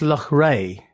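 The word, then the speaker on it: Loughrea: me spell last time l-o-u-g-h-r-e-a i think it's luck ray oh see look is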